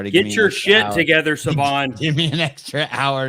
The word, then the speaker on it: Sevan: It's Sevan. Sevan.